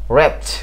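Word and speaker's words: wretch: ওকে, এর পরবর্তী যে ওয়ার্ডটি সেটি হলো ডাব্লিউ আর ই টি সি এইচ, র্যাচ। র্যাচ র্যাচ র্যাচ, হ্যাঁ, ডাব্লিউ আর ই টি সি এইচ, এখানেও ডাব্লিউ লেটারটি সাইলেন্ট রয়েছে।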